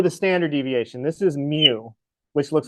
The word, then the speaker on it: mu: That's pronounced mu.